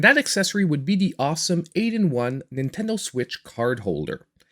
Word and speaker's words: Alxum: And that accessory would be the awesome 8-in-1 Nintendo Switch card holder. Now, I know the company writes their name Alxum, but they say it's pronounced awesome, so we'll just go with awesome.